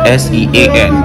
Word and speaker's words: Sean: next I'll be asking to pronounce the word s-e-a-n what is pronounced Sean but I said sin so I got that wrongly and next he